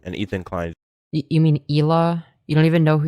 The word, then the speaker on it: Hila: You mean Hila? You don't even know who you're defending? Okay. Kid. Ethan basically posted on IG saying that his kid never had. Dude, he thinks that Hila Klein is pronounced Hilla Klein.